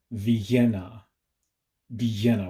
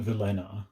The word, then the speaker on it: Villena: the city of vienna with two ls in its name pronounced with a very heavy spanish accent vienna vienna whatever you do just don't call it velena the city of vienna